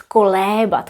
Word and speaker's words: kolébat: By the way, if you look up in a dictionary how to say to rock a baby, it will tell you it's kolébat with e. Kolébat. But here it's kolíbat, and actually here it's kolíbati.